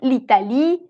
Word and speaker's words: l'Italie: Et l'apostrophe, et l'apostrophe no suena. Es como si hicieras una liaison. Dices l'Italie, l'Iran.